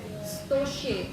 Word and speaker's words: स्तोष्य: स्तोष्य आधा स, जैसे अपन स्तुति में बोलते हैं ना, वैसे आधा स है। आधा स का प्रोनाउंसिएशन जैसे स्कूल, स्टेशन, इन सब चीजों का करते हैं, वैसे ही बनेगा।